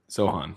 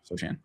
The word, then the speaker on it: Sochan: Sohan, yeah. Sochan.